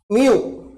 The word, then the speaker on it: mu: can we remember so this is a Greek letter and pronounce it as Mu and here we have